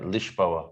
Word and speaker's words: Lisboa: so they say uh what is it yeah lishboa and we're in lagos which is pronounced lagos yeah yeah so we spent two